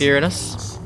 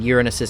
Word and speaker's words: Uranus: methane in uranus's atmosphere now you may notice that i'm pronouncing it uranus to avoid pronouncing it uranus which is how i remember it being called growing up it seems to have had a rebrand as uranus at some point i